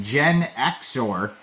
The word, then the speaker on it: Genixor: Kind of is spelled out like Genixor, like you're a Gen Xer.